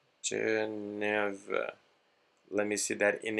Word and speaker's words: Geneva: Yeah, we have these topics here, which is Washington Conference in 1921, Geneva Protocol 1924, Dawes Plan 1924, and Young Plan 1929.